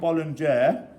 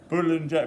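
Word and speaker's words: boulangère: Now this is called bollinger. I probably not pronounced it right. We've got a French lady in the room actually. How do you pronounce it? Boulanger, meaning bakery.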